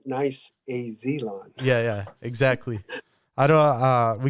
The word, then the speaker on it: niceAZlawn: Thanks for pronouncing it correct. niceAZlawn.